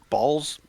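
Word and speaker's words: Bawls: can just uh good good news farmer uh balls is actually a Canon Y in Fallout I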